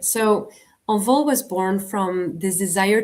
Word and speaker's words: Envol: How do you actually say it? I say Envol. You say it right, Envol.